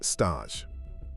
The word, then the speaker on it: stage: Before you get a paid job, there is the stage, pronounced stosh.